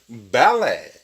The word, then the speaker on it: ballet: 그 다음에 ballet. 이건 뭘까요? 이거는 T는 묵음이 됩니다.